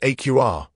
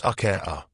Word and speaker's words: Acura: It's pronounced AQR, not a r.